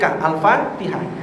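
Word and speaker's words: الفاتحة: salah salah contoh Alfatihah Alfatihah bukan alfatik Alfatihah al-fatihah itu kalau iyaka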